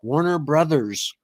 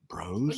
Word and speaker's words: Warner Bros.: It's Warner Brothers, not Bros.